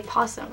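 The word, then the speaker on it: opossum: possum um I mean it's spelled oh possum but you say posum right what do you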